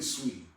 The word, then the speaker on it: Saweetie: Okay, I would rate Beyonce higher than Saweetie, but I'm sporting Saweetie. Okay. Why am I calling her Saweetie? That's how it's spelled, but it's really Sweetie.